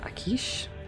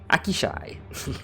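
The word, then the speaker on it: Aqshy: the great part of how do you say that? Akish? Akishi? Akishai. Okay. It's Akishai.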